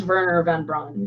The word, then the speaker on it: Wernher von Braun: Luna oh it is Verner von Braun yeah yeah it's spelled with a W but yeah but that's how they pronounce it over there there we go right